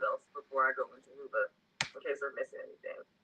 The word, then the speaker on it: Whova: do to prepare is download the Hoova app, and it's spelled WHOVA.